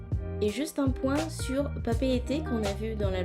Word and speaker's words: Papeete: Et juste un point sur papeete qu'on a vu dans la leçon. Vous commencez à le savoir maintenant, en tahitien on prononce toutes les lettres et papeete s'écrit avec plusieurs E.